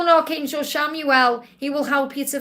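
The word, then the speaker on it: Chamuel: you're call an archangel shamuel pronounce c h a m u e l shamuel he is the finding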